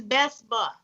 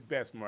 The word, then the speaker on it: Bessemer: I mean, you really are, and it's Bessemer. It's Bessemer. I was trying to pronounce it like I was from Opelika, though.